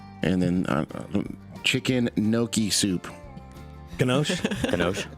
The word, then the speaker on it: gnocchi: Ganoche? Gnocchi soup. What is it? Ganaki. How is it pronounced? Chicken gnocchi. Gnocchi? Gnocchi. Yeah.